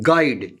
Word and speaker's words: guide: Guide, G-U-I-D-E, guide, U is silent.